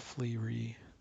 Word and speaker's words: FLRE: There's a healing spell, FLRE, Flee. It doesn't really have pronunciation.